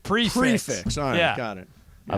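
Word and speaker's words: prix fixe: like an x-rated joke I'm looking for a prick fix yeah yeah what are you getting sensitive about prick fix no see that's where we got lost earlier yeah it is spelled prick fix but it's pronounced prefix prefix all got it I love it so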